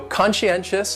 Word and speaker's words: conscientious: going on they're so conscientious has four syllables and the stress is on that third syllable that end and conscientious conscientious that second syllable is what really confuses people because that s CI or almost sounds like you're saying she conscientious conscientious and someone